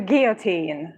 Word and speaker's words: guillotine: So I know how to say to the guillotine when somebody is being unfavorable to me. There is no L, yeah.